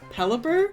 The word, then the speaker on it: Pelipper: Pelipper?